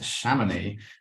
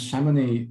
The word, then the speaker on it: Chamonix: Okay, so next up was Chamonix, which I eventually managed to pronounce correctly after being there for a little while. And Chamonix is a lovely little alpine village at the foot of Mont Blanc.